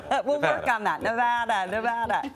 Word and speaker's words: Nevada: You're going to run for office, Nevada. An extended discussion. Do not say it, Nevada. Right. Has the president said it correctly? Well, yeah, he takes a lot of heat for not saying it correctly.